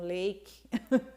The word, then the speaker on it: lake: E várias palavras usam som do nome da letra, que é ei. E tem uma regra de gramática aí, de como, uma regrinha, né, que por que esse A tem que ser pronunciado ei, porque no fim tem a letra E, então lake.